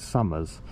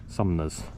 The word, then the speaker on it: Sumners: the link for Sun I got the name wrong the other day it's always call it Summers but it's it's spelled s u m n e r s sumers um and it's a